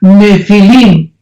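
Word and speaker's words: nephil: y pH intermedia nepil se pronuncia nefil en el original hebreo esta palabra en su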